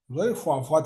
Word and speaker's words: ፏፏቴ: ዷ ዷ ጎ ፏ ፏ ፏ ፏቴ ነው የሚባለው እንጂ ፎፋቴ አይባልም። ፏ ፏ ቴ አጆራ ፏፏቴ